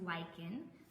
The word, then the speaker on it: lichen: might see it and think oh it's it's lichen it is lichen um so if you see that word you now know how to pronounce it but basically um that's what you're